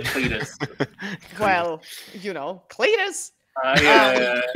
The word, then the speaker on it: Clitus: Oh, it's not Greek pronunciation. It sounds like Cletus.